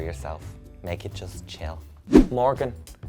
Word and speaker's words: Morgxn: name with long please it's beautiful when you say it like that thank you it's just Morgan and check out the